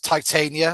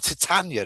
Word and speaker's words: Titania: And you were talking quite a bit about Titania or Titania, as I tend to pronounce mhm, it.